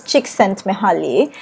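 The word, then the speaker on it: Csikszentmihalyi: designing games his name is very difficult to pronounce his surname is chick sent me holly and chick sent me back in the 1990s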